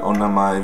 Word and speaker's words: Onna-mai: For correct pronunciation. Who responded to the Onna-mai video and the Onna-mai Reiki current and asked me for attunements.